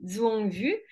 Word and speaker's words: Duong Vu: Donc pour les personnes qui me découvrent, je suis Duong Vu, donc le D se prononce Z en fait, car je suis vietnamienne, et je suis une